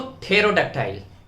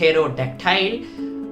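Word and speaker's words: pterodactyl: दोस्तों, थेरोडक्टाइल। जी हाँ, सुनने में बड़ा अजीब लग रहा है, इसकी प्रोनाउंसिएशंस भी बहुत टफ है।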